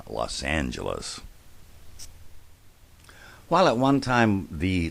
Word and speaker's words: Los Angeles: Well, the reason for that is in 1953, the City Council voted to standardize the pronunciation, and if you think about it, none of them actually would have been predictable. It became Los Angeles.